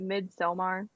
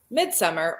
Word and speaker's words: Midsommar: I actually, do you pronounce it Midsommar? Because I think it's actually. I usually say midsummer or midsommar, however you want to say it.